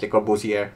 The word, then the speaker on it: Le Corbusier: I like to pronounce it Le Corbusier, because why did they put the letter R in the last of his name if you're not gonna pronounce it? Respect the letter R, guys.